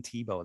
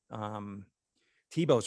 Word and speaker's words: Thiebaud: But you had mentioned earlier that, you know, you see a Norman Rockwell vibe, but what's really interesting is it's actually Wayne Thiebaud that was my main influence back then.